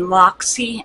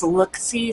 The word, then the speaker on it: Looxi: products L XI and I've been saying Loxy and I think it's lookie so really sorry if